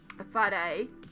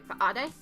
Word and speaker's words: whare: So for Taranaki, we have a guttural stop on the H for our Māori. So whare, which is a meeting